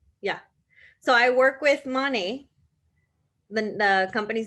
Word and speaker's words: Monat: So I work with Monet. The company's name is Monet, stands for Spell it.